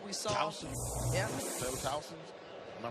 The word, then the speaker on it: Towson: Taylor Towson. Am I pronouncing the name right? Towson, yep.